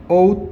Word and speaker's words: ought: 자, 얘는 발음 어떻게 해야 되냐면 out이에요. ought to.